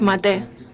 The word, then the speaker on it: Maté: nombre era como mat Cómo se pronuncia mat Sí con un acento agudo era húngaro sí húngaro polaco algo así aquí le llamamos rudolf maté Ah y en español